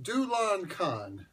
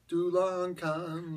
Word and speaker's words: Dulachan: hopped and devilishly delicious pronounced Dulan KH yep Dulan KH lives with his dad